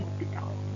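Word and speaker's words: L'Hôpital: Kita punya tambahan satu lagi, yaitu aturan L'Hopital. Membacanya H dan S-nya tidak ikut dibaca ya.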